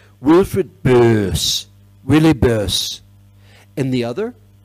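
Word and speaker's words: Böse: One of them, a man by the name of Wilfried, see, it's pronounced, it's read B-O-S-E, like Bose or Bosey speakers, but there's an umlaut over the O. Wilfried Böss, Willy Böss.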